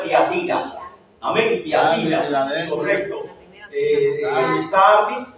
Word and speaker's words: Tiatira: Como no tiene acento, se pronuncia Tiatira.